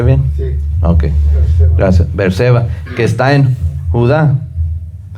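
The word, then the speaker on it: Beerseba: fue para salvar su vida y vino a Berseba. ¿Cómo se pronuncia? ¿Lo pronuncié bien? Sí. Okay. Gracias. Berceba, que está en Judá, y dejó ahí a su criado.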